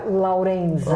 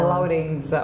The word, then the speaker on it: Laurenza: O seu sobrenome, por exemplo, se pronuncia? Laurenza. Laurenza, olha. Laurenza. Laurenza.